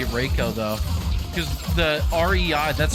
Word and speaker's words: Reiko: and uh Reiko today I can't believe it's Reiko I'm not even gonna I'm just gonna say Rika ryko's just cooler and riko's not real so he can't do anything about me mispronouncing his name he doesn't even exist